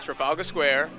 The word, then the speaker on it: Trafalgar Square: And so to be here in Trafalgar Square, right? That's how you say it? Yeah. Trafalgar Square, to promote and share this movie with the world is a blessing.